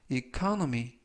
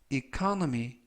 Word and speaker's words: economy: 이번 표현은 economy, economy, economy 라고 발음하시면 되겠고요. 이때 강세는 첫 번째 있는 알파벳 O의 강세가 있습니다. 이번 단어에서 O가 두 개가 나오는데요. 첫 번째 오는 알파벳 O의 강세가 있어서 economy 라고 발음하시면 좋겠습니다.